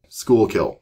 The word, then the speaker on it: Schuylkill: Schuylkill.